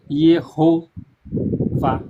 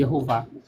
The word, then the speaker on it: Yehovah: Então, o nome de Deus com as com as consoante vogal, consolante vogal é pronunciado como tá aí na sua tela, errou vá, e errou vá.